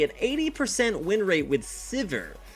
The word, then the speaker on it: Sivir: 80% win rate with Sivir. Or Severe, depending on how you want to pronounce it.